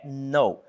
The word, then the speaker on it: know: Eu não pronuncio K aqui, tá gente? É no.